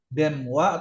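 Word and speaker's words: 電話: Ini Denwa. Demwa atau dengwa wa simbun. Denwa. Demwa atau deng. Denwa sih. Denwa. Oke. Denwa. Cuman ada juga yang ngucapin deng juga kadang ada juga ngucapin deng ya. Cuma kalau teorinya yang benar mah ya denwa.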